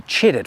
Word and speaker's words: chitted: Regular potatoes need to be chitted first. Make sure you emphasize the first syllable when you tell your friends you did it.